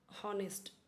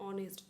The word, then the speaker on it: honest: लेकिन अगर कोई अब हमने सीख के रखा है हॉनेस्ट। ठीक है? सामने वाला बोल रहा है कोई ऑनेस्ट तो आप तो सोचते ही रह जाएंगे कि यह कौन सा वर्ड बोला।